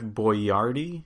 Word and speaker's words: Boyardee: They even had like, I think in their ads, a way to pronounce it. It was like BO-YAR-DEE.